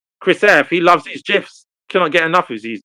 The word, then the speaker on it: GIF: in Webster's dictionary, it's pronounced GIF. GIF. Yeah. Okay. With a J? You hear? I don't know. Wait a minute. Hold me pull this up. GIF. Oh, wow. Do you know what? I Okay. don't know. I don't know. That- We lose. We lose. That's So- why some people say Apparently, GIF. the Oxford English Dictionary allows both pronunciations.